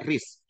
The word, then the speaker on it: wrist: Jadi wrist ini bacanya wrist. W nggak usah diucapkan.